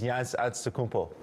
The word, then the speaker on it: Giannis Antetokounmpo: Giannis Antetokounmpo. That's close enough. It's kind of in the ballpark. Is that right, my brother? No, Shaq. All right, teach me right quick. It's Giannis Antetokounmpo.